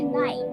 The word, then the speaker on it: knight: The word knight starts with a K, not an N. But it's knight. Knight. It's spelled knight. Why are you saying knight? To emphasize that it's spelled Knight. But was it pronounced that way? No, it's pronounced knight.